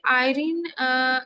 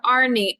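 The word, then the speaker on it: Arnie: Question में ये पूछ रहे कि आयरीन एक बंदा है. नहीं, आयरीन नहीं होगा, इसका प्रोनाउंसिएशन होगा आर्नी. आर्नी thinks that the आइस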